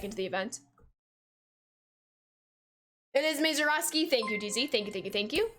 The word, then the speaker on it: Mazeroski: It is Roski, Mezaroski.